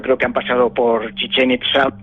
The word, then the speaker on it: Chichén Itzá: ¿Cómo se pronuncia? Chichén Itzá. Chichén Itzá.